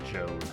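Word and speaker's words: Jowd: him as evil oh it's pronounced Joe okay I'm completely misunderstood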